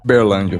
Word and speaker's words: Uberlândia: Ele que pois é para você conseguir pronunciar igual os locais. Ah, sim. Uberlândia.